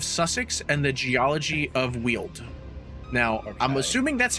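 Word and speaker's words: Weald: was like and he's Ryan said from the way it's written it would sound like wheeled like w-h-e-e-l-e-d so yeah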